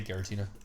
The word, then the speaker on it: Giratina: I say Giratina. Hard G it.